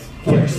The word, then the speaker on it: QIX: Pronounce kicks, though, I think. Yeah, I think so too. But anyway, I say Quicks just to make sure that you know it's not Kicks with K-I-C-K-S.